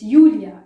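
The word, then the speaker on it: Julia: yay for example it's yulia it's johan because you pronounce j as y so again you know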